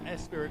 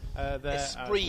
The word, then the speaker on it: Esprit: Unfortunately, he's just got, of course, got his sponsors there: Michael Jones Jeweller, Spirit Group, and Eastgate. Esprit, well. You'll find that's pronounced.